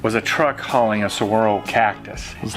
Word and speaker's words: saguaro: The spelling alone is weird, you know, saguaro, or, you know, we had a hard time figuring out how to say it. But saguaro, when you grab one